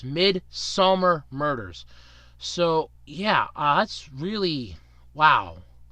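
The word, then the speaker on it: Midsomer Murders: And I did pronounce that correctly. It's Midsummer Murders.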